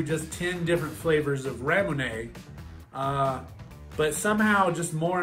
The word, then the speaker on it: ramune: original now raymond actually is just a japanese pronunciation of the word lemonade which is weird because